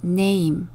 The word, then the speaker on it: name: 이거는 꼭 기억해 주세요 애는 니은 소리 나고요 a는 여기에서 a로 발음됩니다 m은 미음 소리 단어의 맨 끝에 있는이는 소리 내지 않습니다 그래서 이름은 영어로 name 벌써 다 알고 계시겠지만요 그래도